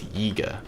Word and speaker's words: Yiga: It's Yiga, but I've also heard it pronounced Higa because it's Y-I-G-A, and I'm not sure if that's.